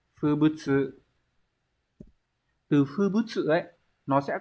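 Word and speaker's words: 風物: Chữ Hán là chữ phong và chữ vật, từ này đọc là Fubutsu.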